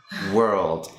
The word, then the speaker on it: world: But then, even though there is an O here, you don't want to pronounce it because there is no O.